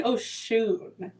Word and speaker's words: Oshūn: The pronunciation of my name. Yes. It is actually Oshūn.